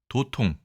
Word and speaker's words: 도통: 자, 이 글자는 도통이라고 읽습니다. 도통.